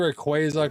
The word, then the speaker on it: Rayquaza: But it's supposed to be Rayquaza cuz like a quazar.